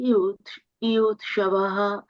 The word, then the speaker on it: yuyutsavaḥ: Dhṛtarāṣṭra uvāca dharma-kṣetre kuru-kṣetre samavetā yuyutsavaḥ māmakāḥ pāṇḍavāś caiva kim akurvata Sañjaya. Nice. Dhṛtarāṣṭra dharma-kṣetre kuru-kṣetre samavetā yuyutsavaḥ māmakāḥ pāṇḍavāś kim akurvata Sañjaya. Yeah, samavetā yuyutsavaḥ, not swa. Sa and vaha.